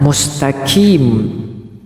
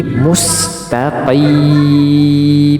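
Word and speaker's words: مُسْتَقِيمَ: Q Q tetapi juga bukan huruf Kaf mustaqim itu juga keliru tetapi mustaqim mustaqim ya kita ulang ihdinasatal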